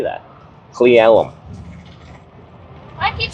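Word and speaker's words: Cle Elum: Cleellum. Cleellum. All right. Cuz I'm looking at on a map and I'm like, "How the heck do I say that?" Clem.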